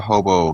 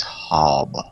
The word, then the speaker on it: Hobbe: He's not a hobo, he is Hobbe. Hobbe.